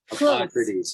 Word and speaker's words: Hippocrates: I was telling you that Hippocrates, did I pronounce correctly? Hippocrates, yes.